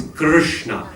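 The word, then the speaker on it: कृष्ण: So it's Krishna. Your tongue rolls from the K to the Sha over the R.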